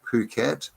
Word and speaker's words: Phuket: Here in Phuket, that's how you say it, Phuket, not the other way.